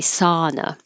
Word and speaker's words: sauna: Americans pronounce this with a just ah, without the ow. sow, we just say sauna. At least I think that's what most people here say, sauna.